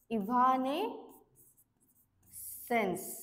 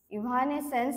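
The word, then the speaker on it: evanescence: आहे त्याला काय म्हणते इव्हने सेन्स ओके इव्हनेसेन्स असं प्रोनाऊन्स करायचं याला इव्हनेसेन्स आणि त्याची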